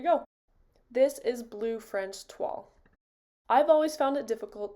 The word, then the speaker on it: toile: is called Blue French TW yes it is pronounced TW I did a lot of research on it